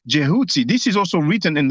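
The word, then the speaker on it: Djehuty: a greek way but the proper name the proper pronunciation is most likely jehuty this is also written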